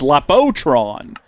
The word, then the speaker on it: Lapotron: We want you to make the Lapatron crystals. And it's not spelled like that, apparently. Is it Laptron, not Lap... Oh, it's Lapotron.